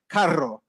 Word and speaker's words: carro: But in Spanish, they'll say things like carro. They would say things like ahorrar. And, that really strong sound.